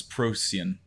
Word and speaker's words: Procyon: That planet is pronounced as Procyon.